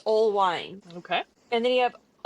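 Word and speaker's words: Oelwein: You have wine, but it's spelled O E L W E I N, but pronounced old wine.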